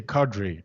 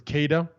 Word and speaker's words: cadre: So you say cadre. There's I don't know if you've noticed, but we I pronounce it as Kada, Oh, sorry, Cater. and no, it's no, cadre is still the right way. It's just as Okay. Kada is another way.